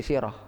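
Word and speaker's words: سيرة: kalau dalam bahasa Indonesia memang sirah dibacanya jadi siroh tapi dalam masa Sunda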